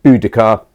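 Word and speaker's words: Boudica: famous obviously for um mainly for bodhia is what they called her in Victorian times we're now we're now a bit more certain that the correct pronunciation would probably been more like budika the warrior Queen Who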